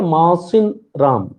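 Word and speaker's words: Mawsynram: इसको बोलेंगे मोहसिन राम, इसका प्रोनाउंसिएशन आप समझिए, मोहसिन राम, मोहसिन राम, ठीक है।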